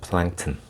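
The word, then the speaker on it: plankton: 플랭크톤. 네. 그 우리 남한에서는 부유생물이라고 하는데 북한에서는 떠사리 생물이래요. 네, 떠사리 생물.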